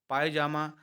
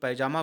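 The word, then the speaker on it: pyjama: पहनते ही हैं अब स्पेलिंग जरा ध्यान दे सकते हैं पी वाई जे ए एम ए पायजामा और हम लोग पैजामा बोलते हैं तो बहुत ही अच्छा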